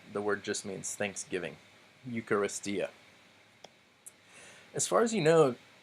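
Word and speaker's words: εὐχαριστία: next to each other so this word is eucharistia eucharistia so there are five syllables because we counted five vowels and diphthongs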